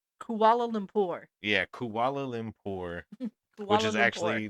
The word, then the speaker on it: Kuala Lumpur: Kuala Limbo something. Yeah, So I know it's Kuala Lumpur. Kuala Lumpur. yeah, Kuala Lumpur, which Kuala is Lumpur.